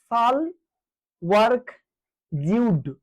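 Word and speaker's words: Sahle-Work Zewde: এর চেয়ারপার্সন হচ্ছে সাল ওয়ার্ক জউড। সাল এইযে সাল বানানটা কিরকম বাংলায় লিখে দিই আমি হল এই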